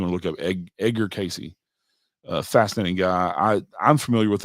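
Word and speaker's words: Cayce: Casey is spelled Kayce. If you want to look up Edgar Casey, fascinating guy.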